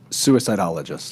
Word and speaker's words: suicidologist: You're going to have to pronounce this because I slaughter it. What are you? Suicidologist.